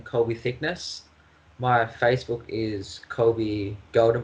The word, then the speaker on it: Thicknesse: How is correct way to pronounce your family name? Thicknesse.